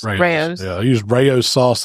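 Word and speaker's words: Rao's: I think it's Rayo's. Rayo's.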